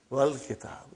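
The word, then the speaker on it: والكتاب: When it came in front of Hamzatul Wasal, you did not pronounce. You will say, wal kitab.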